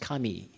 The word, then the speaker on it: 紙: themselves hi listen um if I pronounce in Japanese the paper pronounced Kami Kami the same pronunciation with as God so very holy spiritual